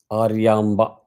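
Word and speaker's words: Aryamba: you talk about mother mother name is aramba aramba that's a correct pronunciation aramba so this is the incident that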